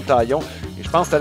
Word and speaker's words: Taillon: les Yankees, tu sais, c'est avec le N, on prononce toutes les consonnes ou à peu près en anglais, mais dans le cas de Jameson Taillon, il le prononçait de façon impeccable. Comme s'il était un francophone, Taillon.